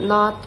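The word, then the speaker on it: know: Um after that we also explore about silenc labels like which letters are written but not pronounced like B in thumb or K in no.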